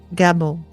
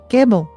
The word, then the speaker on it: Gebo: Next up, Gebo. Gebo, g e b o, is the gift.